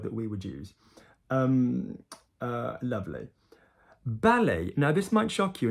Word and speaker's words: ballet: Good, the word is ballet, and obviously we don't pronounce the T like we don't in English.